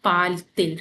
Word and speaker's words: parle-t-il: So for better pronunciation, we put T here, and to avoid that thing, we put T here.